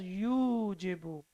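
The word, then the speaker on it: يُجِيبُ: But when we have dhamma before wow, then it has to be pronounced as yujibu. Yujibu.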